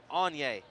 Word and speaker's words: Anya: Ties her with Agni Freeland for the most so far in this contest. And I apologize, I've been saying her name wrong. It is Anya Freeland, as Mickey Glenn makes